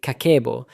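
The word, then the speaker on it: 家計簿: Habit one, kakeibo, pronounced roughly kakeibo, literally the household account book.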